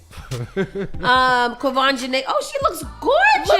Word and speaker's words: Quvenzhané: Quvenzhané.